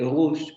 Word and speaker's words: rouge: el hecho de que en la variante parisina actual, es decir, lo que se habla en París, en la actualidad, se pronuncia este fonema o cuando aparece este fonema en las transcripciones o en las palabras, esta letra, se pronuncia más bien con el aproximante sonoro.